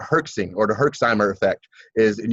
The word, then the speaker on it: Herx: And it's called herxing, or the Herxheimer effect. And you guys can look this up, and it's spelled just like it sounds, Herx.